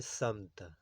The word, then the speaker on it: سمت: کی یہی باتیں ہیں۔ تیسرا لفظ ہے سمت۔ یہ اصل میں عربی زبان سے آیا ہے، اس کا درست تلفظ ہے سمت۔ معنی اس کی جانب،